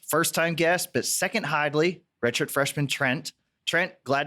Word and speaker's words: Hidlay: How do you pronounce it? It's Hidlay.